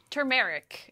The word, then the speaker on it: turmeric: Turmeric is how I always say it. How do you say it? I say turmeric. The R is silent. Turmeric, which I feel like more people say turmeric now than turmeric, but either way, it's a